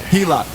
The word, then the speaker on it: HELOC: HELOC.